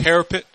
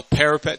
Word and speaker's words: parapet: Battlement back then was actually called a parapet. I think it's pronounced it right. A parapet.